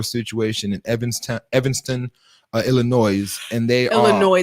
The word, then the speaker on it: Illinois: in evanston evanston uh illinois and they illinois the s is silent illinois patois uh in illinois